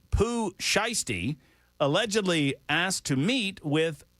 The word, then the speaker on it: Pooh Shiesty: Is that how I pronounce it, by the way? Yeah, Pooh Shiesty.